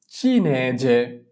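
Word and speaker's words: cinese: চিনেজে। চিনেজে। চিনেজে। চি ই চি। কারণ কি চি এর পরে ই আছে, যদি চি এর পরে ই থাকে তাহলে তার উচ্চারণ চ এর মতো হয়।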